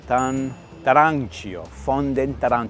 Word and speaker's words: Fondentarancio: It is Fondentracio. Oh my gosh, I always forget. Fondentarancio. It's brand new, hence why I'm learning how to say it properly.